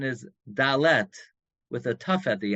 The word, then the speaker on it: dalet: letter dalid now by the way the correct pronunciation is dalet with a tough at the end or delas that's not dalid um yeah I just had the an issue